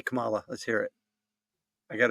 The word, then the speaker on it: Kamala: It's Kamala. Got it? Kamala. Kamala. Kamala. Yeah, like comma.